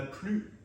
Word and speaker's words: plus: pas le S déjà quand la phrase est négative dans la plupart des cas on ne va pas prononcer le S à la fin il n'a plus de place dans son